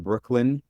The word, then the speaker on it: Breukelen: How Brooklyn got its name. Kings County, established in 1683, when the reigning King Charles II was on the British throne, is today coterminous with Brooklyn, which was named by 1663 for the Dutch